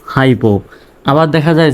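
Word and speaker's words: hypo: high উচ্চারণ হবে অর্থাৎ ওয়াইটা আই এর মত উচ্চারণ হবে পি ও পো হাইপো আবার দেখা যায় যে এই ওয়াইটা যদি শব্দের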